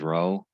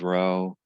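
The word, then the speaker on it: rho: rank correlation um is it's often called spearman's row i guess i could write that now and it's pronounced row okay and there's another way to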